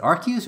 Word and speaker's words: Arceus: Like this scenario in Pokemon Arceus is or Arceus. How do you pronounce it? Arceus or Arceus?